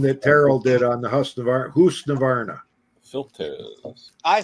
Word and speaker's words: Husqvarna: Because he would have said, no, it's Husqvarna. Husqvarna. Well, there's no K in it. It's Husqvarna. I got by an hour meter, but I'm looking for one of the mechanical ones.